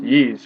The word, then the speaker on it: Ys: I know some people call it Ys or Yees, but it's, you know, it's pronounced Yees according to you know, the voiceover in the beginning of Y's Origin.